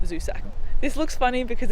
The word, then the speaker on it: Zusak: I always say his name wrong. I think it's Zusak. Zusak, not Suzak, Zusak.